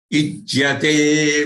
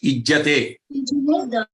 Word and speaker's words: ijyate: Ijyate. Again, yate should be very clearly heard, not just ijjate. Gets, ya goes missing.